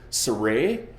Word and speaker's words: Sarai: sir Sarai her name the pronunciation of her name is much probably surae and Abraham's wife sir